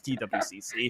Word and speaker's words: TWCC: I was like thinking, is it Twig or I mean the production team was like, okay, it's TWCC. You never know sometimes.